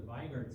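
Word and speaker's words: Weigert: won't stain very well if you use a vard stain it will stain in Black stay the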